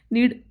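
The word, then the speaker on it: knead: नीड, इसमें case silent होता है।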